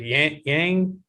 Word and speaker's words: Yan: wrestling uh was it yang yeah i can't remember how do you say her name i didn't even try to pronounce it's yan it's xiaonan yan i didn't even really